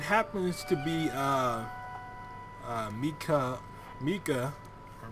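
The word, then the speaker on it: Mikau: ground and it happens to be uh uh Mika Mika or Miku oh my I don't know how you pronounce his name because it's spelled m-i-k-a-u and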